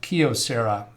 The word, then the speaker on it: Kyocera: the correct pronunciation is kyocera as in a a key to a house or a car anomalous symptoms encountered problem